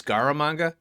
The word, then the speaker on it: Scaramanga: Oh, it's Scaramanga. Yeah, I think that's how you pronounce it.